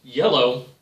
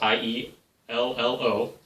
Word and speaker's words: IELLO: It's a Richard Garfield designed iello, that's how it's pronounced, iello, not the jello, but iello.